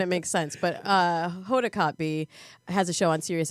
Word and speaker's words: Kotb: on NBC's The Today Show and the Hoda Kotb show which I realized yesterday when producer Thomas told me I'd been saying her name wrong probably a decade it's a tricky one how are you pronouncing it cope wrong yeah that's totally wrong well you know